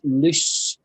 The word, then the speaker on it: loose: But the first lose is correct, the pronunciation? Not quite. You're slightly off. It's loose.